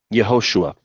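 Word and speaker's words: יהושע: How do you say it in Hebrew? Yehoshua.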